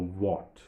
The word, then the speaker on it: what: We don't say which, we don't say where, we simply say where, or which, or what. Even if it is without that H, we say what, or which, when.